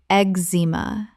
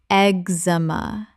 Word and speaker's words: eczema: eczema Common mispronunciation. eczema Correct pronunciation. eczema The cz makes a simple x sound. Three syllables.